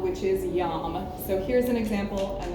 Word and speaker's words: yam: And there's a seed sound specifically for the heart chakra, and it is yam. So only one syllable to worry about.